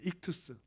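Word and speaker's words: ἰχθύς: 이름이 물 고 기 만 헬라어로 뭐라 줘 발음은 다양하지만 한국사 분양 립 투 스 라고 합니다 이투스 적혀 뺐어요 이 그 절수 헬라 이투스 인데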